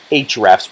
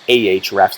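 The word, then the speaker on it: Ahrefs: its link building and that's called hrefs or ah wraps depending on who you chat with in terms of pronouncing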